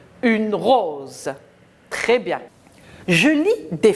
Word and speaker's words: rose: Entre les deux, le S se prononce Z. Une rose.